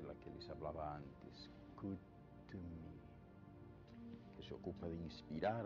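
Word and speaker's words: Kuthumi: Dice el maestro El Moria que su nombre se pronuncia con una T fuerte y la H suena como J en castellano y las O's son más largas tirando al sonido de la U.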